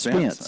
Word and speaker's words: Spence: I believe it's actually Spencer, if I'm not mistaken. I believe it's Spence. Okay, it is Spence.